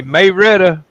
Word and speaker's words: Marietta: native from a visitor if you say may Retta they know you from around here you mean m a how do you spell these m-a-r-i-e-t-t-a yeah Marietta Marietta it's